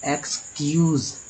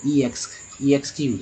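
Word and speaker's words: excuse: Start होगा दोस्तों ना, तो ई एक्स को एक्स ही उच्चारण करेंगे। क्या बोलेंगे? एक्स। तो हो गया ना, एक्सक्यूज, ऐसे नहीं बोलेंगे ई एक्स क्यूज, ऐसे थोड़ी बोलते।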